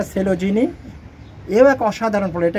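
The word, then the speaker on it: Coelogyne: অনেকে অনেক রকম উচ্চারণ করে। হুম হুম। কিন্তু এটা সেলোজিনি।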